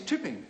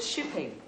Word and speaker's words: Chipping: And my name is Chipping. Please, could you spell it? Yes. Oh, chipping, sir. I thought you said shipping. Chipping, as in chips.